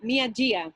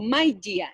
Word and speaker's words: Mai Jia: Yo en mi cabeza siempre lo he leído como Mia Jia, pero a lo mejor no se pronuncia así. O Mai Jia, eso, Mai Jia. No es Mia, Mai.